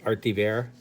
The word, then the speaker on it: Art Thibert: And Art Thibert. That's how it's pronounced, Art Thibert.